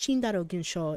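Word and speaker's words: チンダル現象: physics ikitaru was talking about the Tyndall effect pronounced chindarogenshaw in Japanese I tried listening to it again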